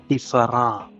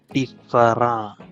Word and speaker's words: différent: Words in English ending in ENT and ANT come from French. They are the same spelling and same meaning, and pronounced as ah in French.